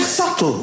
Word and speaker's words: subtle: The word subtle. Would anybody object if it was spelled s u t l e? Not a single person would. Would there be in the middle going shh?